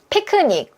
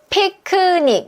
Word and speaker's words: picnic: 우리도 피크닉. 이렇게 3음절로 소리를 많이 내는데 여러분 발음 기호 보니까 어때요? 모음이 두 개 있죠. 얘는 몇 음절이에요? 2음절이에요. 근데 이 2음절을 여러분이 3음절로 소리 내면 헷갈려. 이렇게 돼버립니다.